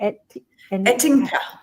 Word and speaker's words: Ettinka: Ettinka.